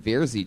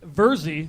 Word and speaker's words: Verzi: The fucking Vierzy triplets. Tell us something interesting about you guys. Our name is pronounced Verzi triplets. Like Jersey.